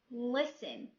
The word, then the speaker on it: listen: Third rule: when we have a word ends with STEN, T here is silent. بمعنى ملي كيكون عندنا word كتنتهي بهاد الفور letters STEN, T هنايا is silent. An example: fasten, listen, silent U.